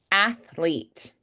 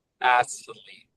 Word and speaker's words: athlete: author author method method athlete athlete athl that's a little bit tricky because the tongue is sticking out between the top and bottom teeth and then the tongue has to pull back in and flick for